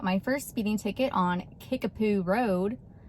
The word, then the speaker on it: Kickapoo: And I got my first speeding ticket on Kickapoo Road. That's right, Kickapoo. It is spelled Kick-a-poo.